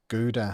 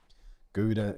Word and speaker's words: Gouda: That G will be a sound my mouth can't do. Stroop waffles are from Guda.